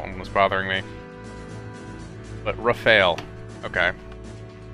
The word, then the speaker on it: Rafale: I hadn't I don't know I've been mispronouncing things all over the place I don't know that one was bothering me but rafale okay I know it's French but yeah